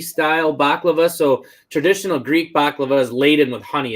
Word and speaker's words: baklava: and half Mexican and she always told me that was actually pronounced by Laila is that true I don't know I call it baklava so if you so